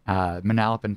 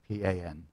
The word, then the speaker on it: Manalapan: Manalapan. I guess Manalapan, but we pronounce it our own way in New Jersey.